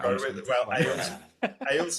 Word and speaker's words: Ahles: Ahles is how my dad pronounced our name, so I'm Ahles. Ahles would have been how it was originally pronounced. Like I sourced back to Germany, and it would have to be pronounced that way.